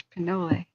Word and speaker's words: Pinole: By the way, Pinole Ridge. Yes, of course, Pinole. That makes more sense with the pronunciation.